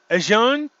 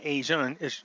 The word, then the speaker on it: ASEAN: ASEAN, because that's how you pronounce it, I found out. A list of German person said it wrong. It's not ASEAN. This is Sean.